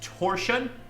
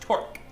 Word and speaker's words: Torque: You think it's pronounced torsion? Torsion? It's pronounced torque.